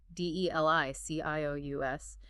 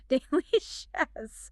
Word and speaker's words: delicious: Notice the soft C that makes an SH sound. I am ready. Speaking very slowly and clearly, d e l i c i o u s. Delicious.